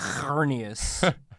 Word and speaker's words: Xerneas: I think that's how it's pronounced. It would have to be. It would have to be. There's no other way to say X. Xerneas. That sounds like hernias.